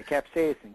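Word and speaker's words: capsaicin: the pain relief experienced with h c cap capsacin is that how to pronounce it capsacin yeah capsacin capsacin is a compound is from the chili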